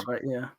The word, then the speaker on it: Corenswet: Corenswet, yeah.